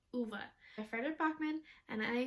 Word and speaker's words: Ove: read a man called uve and nope i said it wrong again in the audiobook they call him uva it's a man called uva i fretted bachmann and